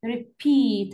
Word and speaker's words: repeat: Stress on the second syllable. هنا عندي repeat على P. Repeat. Repeat. هنا ال P اللي ندلها stress. Repeat.